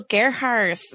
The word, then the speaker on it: Gerharz: go to anchor.fm to get started Dr Garts thank you for so much for joining me today for leadership school did I pronounce that correctly that was perfect ah yes